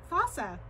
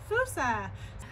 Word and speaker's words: fossa: I swear it's pronounced Fossa. But next time you guys come to the zoo, you'll know that it's pronounced Fossa.